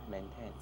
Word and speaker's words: maintain: It's a long A. Maintain. Okay. There. So it should not be a short E.